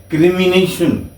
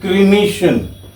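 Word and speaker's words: cremation: इसको आमतौर पे लोग गलत बोलते हैं क्रिमिनेशन. दे pronounce it क्रिमिनेशन. इट इज नॉट क्रिमिनेशन, इट इज क्रीमेशन.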